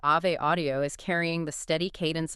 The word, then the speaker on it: Ave Audio: And just to clarify the spelling for everyone listening, that is a v e, but it's pronounced Ave, like the Latin Ave Maria. Ave Audio, it's a So,